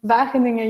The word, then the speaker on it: Wageningen: So yes, I'm from Wageningen University. It's a G, and it's pronounced with a hard G, and I'm an assistant professor in Ethics of Technology.